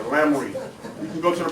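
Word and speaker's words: Laremy: That's L-A-R-E-M-Y, Lamry.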